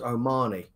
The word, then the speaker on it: O'Mahony: By the way, boys, it's pronounced O'Mahony.